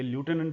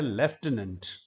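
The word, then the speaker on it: lieutenant: लेफ्टिनेंट लिखने में लटिनेंट है। और बहुत सारे लोग इसको मैंने सुना है कई लोगों से कि लटिनेंट बोलते हैं। एक्चुअली यह शब्द है लेफ्टिनेंट।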